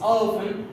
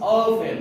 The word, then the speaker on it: often: That word is not often, it's often, because I have here the T is a silent, so I don't pronounce the T, it becomes often, not often.